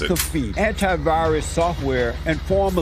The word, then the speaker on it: McAfee: John McAfee is the creator McAfee. That's how you pronounce McAfee, it.